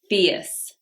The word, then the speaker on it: fierce: Number 36, fierce. You have that ear diphthong here. Fierce.